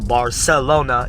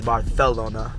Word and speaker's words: Barcelona: Also, Barcelona is Barcelona.